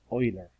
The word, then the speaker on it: Euler: his name is extremely famous mathematician and you pronounce it euler french monsieurs say euler most non-students say euler that tells you who knows about functions and